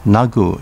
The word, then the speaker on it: Nago: during the sanzan period nago city pronounced nagu in uchinaguchi in recent times much